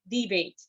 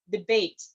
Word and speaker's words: debate: used as a noun, the primary stress is on the first syllable. You say debate. But if it's a verb, you say debate. The stress changes from the first syllable into the second syllable if you're using it as a verb.